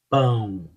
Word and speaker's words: pão: Em português nós falamos pão, ão, pão. E aí eu estou colocando, se você perceber, é uma questão nasal. Eu estou colocando muita força, ênfase, né, na questão nasal.